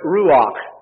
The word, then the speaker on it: ruach: that is translated spirit is the hebrew word ruach r-u-a-c-h if you were wanting to spell it out or in the greek language in